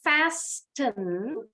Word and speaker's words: fasten: Nah, tadi bacanya bukan fasten, tapi fasten. Fasten. Ingat bunyinya, T-nya silent.